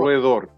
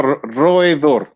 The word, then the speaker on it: roedor: So roedor. Let me pronounce it right. Oh, well, maybe you didn't then. Rodent in Spanish. Sorry. I may be pronouncing it wrong. Okay. No, roedor.